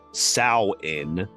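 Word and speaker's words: Samhain: and like I said it was s m ha a i n but it says pronounced sa in I don't know I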